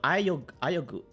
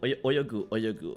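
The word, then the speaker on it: 泳ぐ: Oh, no, ayogu. Oyogu. Asobu is to play. Yes, this one. I was like, yeah. It's not asobu. Oyogu.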